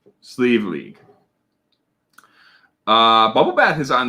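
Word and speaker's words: Sliabh Liag: so we are going to check out uh sleeve league or silky in this case uh this is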